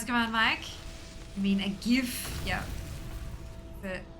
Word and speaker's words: GIF: Yeah, it's pronounced GIF.